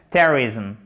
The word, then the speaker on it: terrorism: Alors que si vous mettez l'accent tonique en plus, il est en premier, ça règle le problème. Terrorism. Et bien du coup, vous aurez du mal naturellement à prononcer cette voyelle. Et d'ailleurs, elle est très peu prononcée. Elle est prononcée comme un E très atténué et ici vous avez un I court, terrorism.